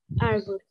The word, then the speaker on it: árvore: para gente Olá a proparoxítona antepenúltima que é a sílaba mais forte de árvore árvore muito bem qual que